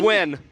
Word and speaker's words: Nguyen: Nguyen. Nguyen. I definitely Wynn. Wynn. You think that's how that's pronounced? Yes. Wynn. It looks like Nguyen. It's pronounced Wynn.